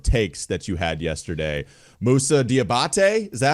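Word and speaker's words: Moussa Diabaté: a couple of takes that you had yesterday Musa diabate is that how we pronounce it I heard some of your breakdown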